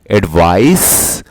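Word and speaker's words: advice: और इसको प्रोनाउंस करते हैं एडवाइस और इसको प्रोनाउंस करते हैं एडवाइज।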